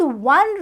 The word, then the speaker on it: one: And when we will pronounce this word, then we will see that it is 1 rupee note. So the starting sound is a word, that is a consonant sound.